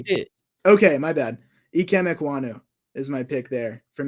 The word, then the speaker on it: Ekwonu: I mean, with Equan. I can't say his name. Say it again. I'm going with Ekwonu on pronunciation. Ekwonu.